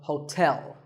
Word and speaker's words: hotel: number 12 is hotel there are two syllables ho and tell like the English word tell as in tell me the stress is on the second syllable so hotel a related word is